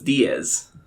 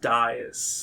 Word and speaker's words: Dias: Back in college when we met, you told everyone it was Diaz. That's because not a lot of people knew how to pronounce it. Dias, so I just gave up. I went with a trend, Diaz. It changed my last name, but then I got tired of it, so I went back to how it actually is supposed to be pronounced, Dias.